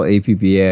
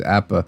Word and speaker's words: APBA: see apple golf i don't know i call apba i've called it that all my life because my dad called it that and well that's how it ends up being but i understand yes it is appa it is pronounced that way i saw it